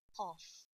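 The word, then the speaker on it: قاف: Now fill the lines with the fa letter and then go through qaf. Qaf is a big kaf. If you want to pronounce kaf deeply, you will get qaf.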